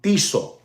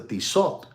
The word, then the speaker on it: Tissot: Ladies and gentlemen, there's a gentleman that he loves the watch brand Tissot. Tissot. I think that's the way you pronounce it.